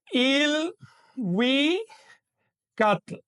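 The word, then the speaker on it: ilhuicatl: Aquellas raíces anteriores a la lengua náhuatl que empezaban con L, al incorporarse al náhuatl, adquieren una I inicial. Es decir, ya no se pronuncian L, sino IL. Por ejemplo, Il, we, cat, cielo.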